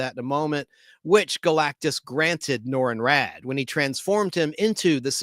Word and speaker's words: Norrin Radd: Originally a young astronomer named Norrin Radd, and his last name is spelled with 2 D's. Double D's, R-A-D-D, Norrin, N-O-R-R-I-N, R-A-D-D, Norrin Radd, on the planet Zenla.